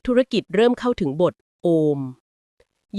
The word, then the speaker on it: โอม: ทำ สมาธิ หรือ โยคะ เรา จะ ออก เสียง อะ อุ ม แบบ ยาว ๆ เพื่อ ให้ จิต ใจ